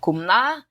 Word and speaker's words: Kamala: And this has been analyzed to death, but really it probably should be something like Kumla, from what I've been able to ascertain from reading.